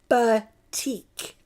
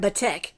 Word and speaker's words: batik: to pronounce that because I was calling it batik. And my husband's like, did you say butt tick? I'm like, no! So I looked it up so I didn't say it wrong, okay?